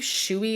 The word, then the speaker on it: Shoei: that had the word I believe Shoei is how you're supposed to pronounce it it's s-h-o-e-i and black